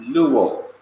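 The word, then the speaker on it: λούω: In English letters, that's L-O-U-O, pronounced luo.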